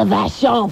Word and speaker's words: Vachon: Yeah, it's the Vachon family. We're the first family of professional wrestling. Don't insult me by saying it wrong. It's Vachon Molds.